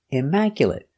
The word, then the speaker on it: immaculate: 4 syllables. The stress is on the second syllable. Immaculate. Mac. Stress is on Mac.